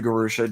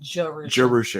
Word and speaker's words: Jerusha: It's easy to let people remember when I say, okay, say Jerusalem, take the limb off, and Jerusha.